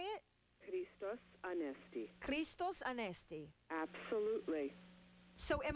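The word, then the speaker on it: Χριστός Ανέστη: Christos Anesti.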